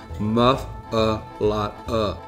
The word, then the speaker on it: muffuletta: While the owners of Central Grocery say muffuletta, other locals call the sandwich a muffuletta.